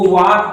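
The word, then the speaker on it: walk: देखिए थोड़ी सी बात बताना चाहेंगे आपको, यदि कहीं भी यल के पहले ए आता है तो यल हमेशा साइलेंट रहता है, यल नहीं पढ़ा जाता है। जैसे यहाँ देखिए, इसको वाक पढ़ते हैं, TAL के, इसको टाक पढ़ते हैं, CALM, इसको काम पढ़ते हैं, इस तरह से याद करेंगे।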